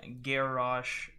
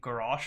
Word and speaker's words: Garrosh: Heroes of the Storm, Garrosh. I'm going to try my best to pronounce his name correctly. I end up saying Garrosh a lot, but I know that it's pronounced Garrosh.